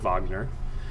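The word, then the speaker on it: Wegener: um alfred wagner all right it was a german scientist that's actually how to say it wagner proposed the earth's continents are moving around the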